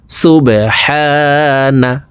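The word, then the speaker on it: سُبْحَانَ: সুবহানা, সুবহানা, বা কলকলার হরফ নিচের দিকে ধাবিত করে ধাক্কা দিয়ে উচ্চারণ করব। হা এখানে এক আলিফ টান, জবরের বাম পাশে খালি আলিফ মদার হরফ, ডান দিকের হরকতকে এক আলিফ টানিয়া পড়িতে হয়।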